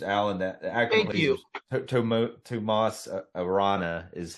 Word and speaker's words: Tomas Arana: character's name is Allen that act to Tom Tomas Arana is how you pronounce his name but he he's an American